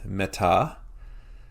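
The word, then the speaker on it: μετά: Our second example with the grave accent, meta. So it's not meta, it's meta. Our emphasis is on the last syllable there, the ta.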